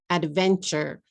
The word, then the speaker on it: adventure: Next, how many syllables do you hear? Adventure, adventure, adventure, adventure. 3 syllables, right?